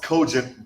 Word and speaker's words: cogent: It's pronounced cogent versus.